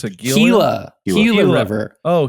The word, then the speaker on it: Gila: How do you pronounce it? Gila River. Oh, Gila River.